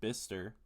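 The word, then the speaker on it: Bicester: A big thank you to apparently Bister United Kingdom. It's pronounced Bister. I'd like to give a thank you to the listener in Bister in the United Kingdom, which uh is spelled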